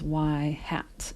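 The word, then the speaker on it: ŷ: This is y hat is how you pronounce that.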